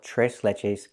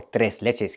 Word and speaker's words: tres leches: We use the Spanish name and we call it tres leches cake, or tres leches cake, depending on your pronunciation.